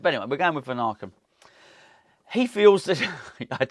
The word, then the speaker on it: Vanaken: I think that is how we pronounce it. I've settled on that, really. I think I've listened to enough commentary to hear them say the words Vanaken. There's no R in it.